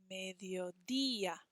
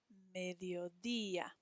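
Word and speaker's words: mediodía: have the next day e with an accent mark on it and ah mediodia hear how it's a little bit stronger on that accent mark mediodia turn the page let's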